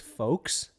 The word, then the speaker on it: folks: for the discord folks do you pronounce the l in folks no so it's folks you say folks i